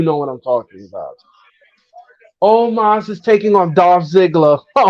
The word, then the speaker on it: Omos: No, It's not almost. it's He, Omos. he said almost.